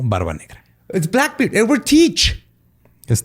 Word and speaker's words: Teach: Edward Teach. Es Thatch, güey. Teach. Es T-H-A-T-C-H. Se pronuncia Teach.